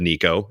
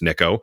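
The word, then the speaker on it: Nicko: mcbrain episode another one I always said Nico it's nik nik um so here we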